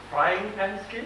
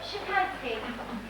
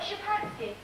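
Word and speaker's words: Szczepansky: Frying Pan Skin? No, Shapansky. S-Z-E-Z-E-P-A-N-S-K-Y, I think. You call it Shapansky.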